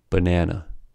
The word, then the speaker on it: banana: But the vowels of the first and the last syllables are reduced to schwa, resulting in the following pronunciation of the word, banana.